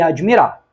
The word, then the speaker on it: admirar: Beleza, duquesa e admirar. Admirar. O D é mudo mesmo, não existe nenhum I entre o D e o M. Isso aqui forma um encontro consonantal.